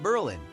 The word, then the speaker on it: Berlin: the name Berlin pronounced Berlin with emphasis on the first syllable derives from a contraction